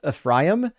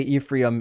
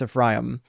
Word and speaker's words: Ephraim: I know it's pronounc it's pronounced Ephraim. Yet I apologize for all the Americans that say Ephraim. It's Ephraim.